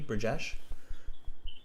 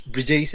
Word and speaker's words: Brajesh: Am I pronouncing your name correctly, Brajesh? Yes, sir. It's Brijace, actually.